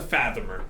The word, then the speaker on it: fathomer: it's a fathomer. Just to make my life easier, it's what it's called. Fat Homer. Yes, exactly. Fat Homer. Got it. It's actually how it's spelled.